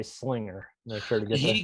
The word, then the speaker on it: Slinger: He said, I know, I said swinger. I'm so embarrassed. He goes, yeah, I know how it's pronounced now.